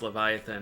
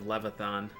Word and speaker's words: Leviathan: hard for me to realize that Leviathan was pronounced Leviathan instead of Levathon because that's how I used to say it when I was younger.